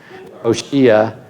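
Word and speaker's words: Hoshea: in Israel that's right it's Hosea uh oshia if you want to pronounce his name we'll get to him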